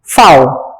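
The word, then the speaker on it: Pfau: doctor Ruth फाओ, P silent है, फाओ, doctor Ruth फाओ वॉज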